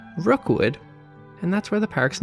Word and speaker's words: Rockwood: One of these modest plots of land was named Rookwood, which is spelled like Rockwood, but St. Johners won't be very impressed if you don't pronounce it as Rookwood, and that's where the park's name came from.